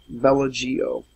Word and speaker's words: Bellagio: That's how I should have been pronouncing it. We can hear them shooting. Bellagio.